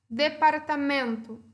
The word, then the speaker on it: departamento: Departamento. Qual é a sílaba tônica? Men, certo? Departamento.